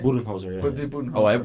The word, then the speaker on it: Budenholzer: But no, honestly, that was a good shout, though, for Budenhauser earlier. Yeah. Did I say his name right? Budenholzer, yeah.